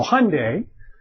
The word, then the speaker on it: Hyundai: this you know um Hyundai and the official pronunciation supposed to rhyme with Sunday so Hyundai um is is making